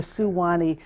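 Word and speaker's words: Suwannee: to go to that it's the Suwanee River just to mention that not the swan well it's the Swanee but it's spelled a little differently it's the suwani he shortened it when he did the song you know we had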